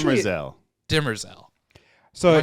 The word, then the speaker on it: Demerzel: Yeah, it's Demerzel.